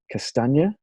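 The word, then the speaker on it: Castagne: well pick up timothy here's the pronunciation castanya yes i think i think that's about right i'll give you that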